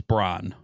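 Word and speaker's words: Brann: br br br bror it's spelled bran but it's Bron yeah it's just two ends in there I guess but uh Bron I want to call him bran because of uh yeah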